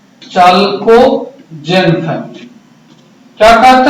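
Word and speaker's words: chalcogen: हेलोजन, कैल्कोजन, संक्रमण तत्व, उत्कृष्ट गैस। नहीं, हमारा क्या होगा? यही चाल्कोजन, या CH का उच्चारण चौ नहीं होकर के कौ भी होता है, जैसे मोनार्क।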